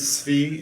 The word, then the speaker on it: Tsvi: Hey, my name is Svi, and I was curious what the panel... Spell that.